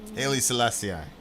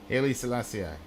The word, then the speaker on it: Haile Selassie: Haile Selassie. The Emperor of Ethiopia, who was regarded by the Rastafarians as God incarnate. Selassie, how did you say it? Haile Selassie.